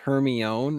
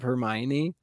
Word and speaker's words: Hermione: a Harry Potter and they thought it was Heron instead of Hermione oh which is the